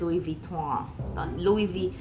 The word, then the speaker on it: Louis Vuitton: And I fell in love with the bag, and so when we went to Vuitton, kasi to say it talaga is Louis Vuitton. Louis Vuitton. That's how you say it.